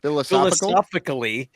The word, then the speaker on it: philosophically: Philosophically. Philosophic. I always put an extra syllable in the middle of it.